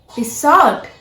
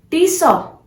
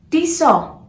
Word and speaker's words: Tissot: Tissot. No, that's a wrong pronunciation. This is not tissot. This is Tisaw. Tisaw. T has to be silent.